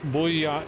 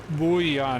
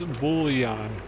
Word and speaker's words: bullion: Okay, there's there's an L in there. Bullion. It's not Bouon. It's Bullion.